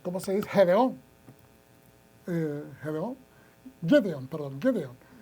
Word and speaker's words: Gedeón: Cuando Dios fue y le habló a a Giliat, ¿cómo se dice? Gedeón.